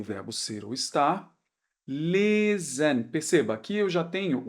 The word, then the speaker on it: lesen: Lesen. Perceba, aqui eu já tenho o S no meio da palavra, porém entre duas vogais. Então, lesen, som de Z.